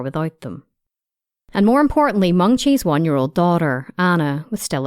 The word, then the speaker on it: Mengqi: It's actually Mengqi, and it has tone to it. It's Mengqi.